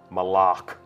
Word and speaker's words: Malak: And that is Malak. Malak. Right. Official pronunciation confirmed. So Malak. if you hear anybody saying Malak, send them right here to the archive of this stream. Our design lead has told us it's Malak.